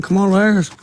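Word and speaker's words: Kamala Harris: don't think Trump trump uh is better than Camala haris oh my God you said it right wow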